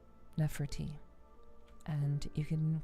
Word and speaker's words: Nepherti: Nefert. Nefert.